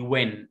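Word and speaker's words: when: هقول بقى زي اللي فوق اللي تحت، لا دي وين، الاتش سايلنت، وين وين.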